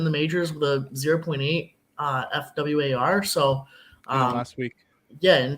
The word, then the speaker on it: fWAR: And that's pronounced F-War, Devin.